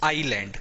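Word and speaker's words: island: है आई थे लैंड इसमें ऐड साइलेंट रहता है पहली चीज तो यह क्या होता है आईलैंड कई लोग इसको आईसलैंड पड़ते हैं नहीं आईसलैंड तो यह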